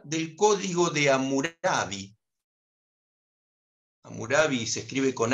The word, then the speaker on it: Hammurabi: 2 que habla del código de amor study amurabi se escribe con h a m m un área